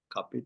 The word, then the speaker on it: carpe: Era carpe diem. Since it's the Latin word, C-A-R-P-E, is pronounced as a carpe. But AI pronounced cup, not pe.